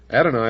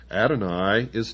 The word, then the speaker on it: Adonai: belief in Lucifer the equal of Adon un adoni also spelled well in the first place here it's spelled a d o n a y and